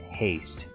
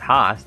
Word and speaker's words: Host: vers the world says my name is pronounced James haste well then then why don't you spell it like that if you spell your name wrong then everyone's going to pronounce it wrong if it's not host if it's haste and not host then spell it like haste